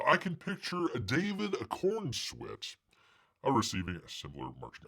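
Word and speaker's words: Corenswet: It says, I can picture David Cornsweat receiving a similar marching. I call him Cornsweat. It looks like Cornsweat, doesn't it? It's Corn Sweat. I know how to pronounce it, people.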